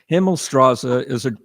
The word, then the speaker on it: Himmelstrasse: Himmelstrasse is the way you pronounce it. It's a German word, Himmelstrasse.